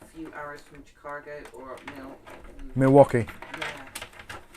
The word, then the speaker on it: Milwaukee: ARS from cargo or Milwaukee yeah or miluk as it's pronounced by the uh Indians I watched we ways